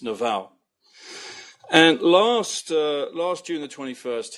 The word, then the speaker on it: Naval: And you'll see him, his handle is @naval, like naval base, but it's pronounced Naval.